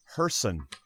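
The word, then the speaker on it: Gerson: right Oh hjerson pagan GE RSO n is pronounced hjerson okay so I won't remember that next week but I'll try to remember that next week sorry Herson but anyway so that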